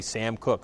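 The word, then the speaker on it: Koch: It's always funny when you hear Sam Cooke, you're just like, oh shoot, Sam Cooke the singer, and I think he spells it with, is it K-O-C-H? Yeah, it looks like K-O-C-H. I believe that's how you spell it. Yes. Yeah, but you don't look at the spelling; you just hear the announcer say Sam Cooke, Sam Cooke.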